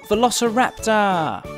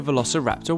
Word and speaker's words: Velociraptor: dynasty by Tyrannosaurus Rex let's learn all about Velociraptor how do you say that again fer la